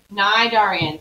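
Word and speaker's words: cnidarian: uh don't forget nidarian starts with the letter c even though the c is silent okay nay darian so main examples are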